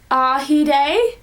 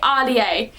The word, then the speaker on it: Ahdieh: Now, I feel really bad because I didn't realize I was pronouncing her last name wrong. I was calling her Ahdieh. So I was kind of saying it, but it's, my friend recently told me that it's Ahdieh, and I'm like, oh, well,